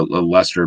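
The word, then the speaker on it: Leicester: or a license yeah there's a lester master massachusetts that's how it's spelled so that's why i'm calling it lester um lester lester is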